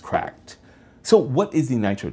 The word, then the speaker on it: CRKD: This is the Nitro deck from a company called CRKD, or I believe it's pronounced cracked.